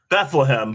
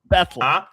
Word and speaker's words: Bethlehem: Bethlehem, but I imagine that's wrong. Yeah. No, we don't call they don't call it Bethlehem. Bethleam. Okay. Betham.